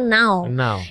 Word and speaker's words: Nau: dari mana nama n tapi kan kalau ditulis ditulisannya e n a u walaupun cara bacanya ternyata now itu Asal muasalnya dari